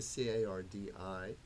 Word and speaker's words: Cardi: karsten or carney and i actually changed the spelling of my name from c-a-r-t-y to c-a-r-d-i because it's cardiology which has to do with the heart and that's the way everyone pronounces it they'll say cardi it's true okay got